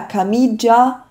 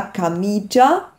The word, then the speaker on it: camicia: Ja, zum Beispiel bei la camicia wird das I gar nicht, dieses I zwischen dem C und dem A wird nicht ausgesprochen, ist also unbetont.